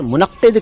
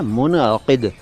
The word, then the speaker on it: मुनक़िद: मुनक़िद को कई बार मुनक़्क़िद कह दिया जाता है, जो कि सही उच्चारण नहीं है। सही तलफ़ुज़ है मुनक़िद, मुनक़िद, जल्दी में मुनक़िद लगता है।